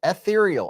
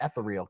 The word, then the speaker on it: ethereal: it's spelled and then someone in here told me tonight said like cereal ethereal and I was like oh so in my video I was call it the etheral because it's spelled e t h r e a l well you know